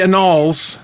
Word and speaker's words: annals: know, now in the anal, the halls of history. The annals, not the Annals. Annals is the pronunciation.